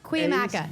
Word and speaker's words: Cuyamaca: Pronounce this word for Oh us. gosh. Cuyam. Cuyamaca.